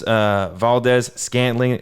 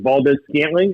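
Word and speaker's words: Valdes-Scantling: Valdez, I'm on the injury report right now, and it looks like Davonte Adams, Valdez, Scantling, as you mentioned, and those are the only 2 wide receivers on the Packers that are out right now.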